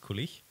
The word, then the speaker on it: Coulis: yeah okay David so my last name is coulis it's pronounced coulis yeah spell it spell